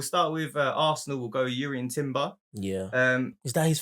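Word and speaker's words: Jurriën: That is Urian. It is Urian Timber. I'm sure it is. It is. Yeah, but it's spelled with a J, isn't it?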